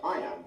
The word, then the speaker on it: iamb: way to remember what it means the word I am is pronounced just like the phrase fine now let's